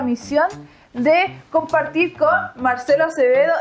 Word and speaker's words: Acevedo: Tengo la misión de compartir con Marcelo Acevedo y María Paz Granger. ¿Cómo se dice María Paz? Grandjean. Grandjean. Mais il se dit Grandjean. En chileno yo lo digo nomás Grandjean. Grandjean. Y el mío es Acevedo.